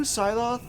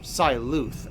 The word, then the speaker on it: Psyloth: Two Psyloth are, or Psyluth, actually, is how that should be pronounced, are fighting each other?